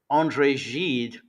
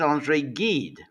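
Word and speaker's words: André Gide: She was going on about Andre Jed and she kept pronouncing him as Andre Gid. Now, if you're going to go on about Andre Jed, I mean, you might at least get his name right because if you say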